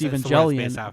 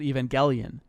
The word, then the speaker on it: Evangelion: of thing, and so people think it's Evangelion. But in the dub, in every single version of the dub, and even in the show, they pronounce it Evangelion. Right. So that's the correct way to say it. If you say Evangelion, you're a slob.